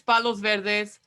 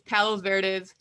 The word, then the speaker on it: Palos Verdes: to uh pbuh it's it's in spanish it's palos verdes if you say it in english it's palos verdes i just say pv